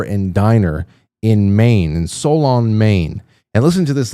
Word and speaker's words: Solon: I am packaging up a few items from Solon, Maine. Solon, Solon rhymes with colon.